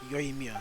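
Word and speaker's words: Yoimiya: done it without yo Mia and the traveler yo Mia that's how you pronounce it okay you're turning out to be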